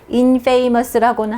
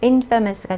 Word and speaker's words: infamous: 발음은 infamous라고는 하지 않아요. infamous가 되겠습니다.